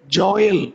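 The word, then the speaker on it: Jael: போயிட்டு இருந்துச்சு எனக்கு தெரிந்து யாகேல் என்கிற பெயரை ஒரே ஒரு நம்முடைய சபையார் வைத்திருப்பதை நான் அறிந்தேன் நம்முடைய சபையைச் சேர்ந்த சினோஜ் உடைய மனைவி அவருடைய பெயர் யாகேல் ஆங்கிலத்திலே ஜாயல் என்று அந்த பெயர் உச்சரிக்கப்படும் ஜோயல் அல்லது யாகேல் என்ற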